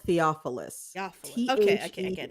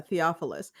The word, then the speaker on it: Theophilus: catch the war um it's spelled like theophyllis it's called Theophilus oh yeah Theophilus like theology theopholus yes yes it was this